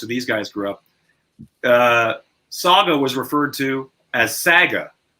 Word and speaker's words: Saga: I was saying how in the prairies, especially, Saga is pronounced Saga. Have you ever heard that? Of course you have, because they've even pronounced it Sega.